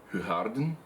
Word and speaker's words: Hoegaarden: Its proper pronunciation in Flemish is Hoegaarden, I believe. I've been told by people who lived in Belgium, and it's fantastic. If you haven't tried Hoegaarden, I'll call it Hoegaarden for the people who don't know.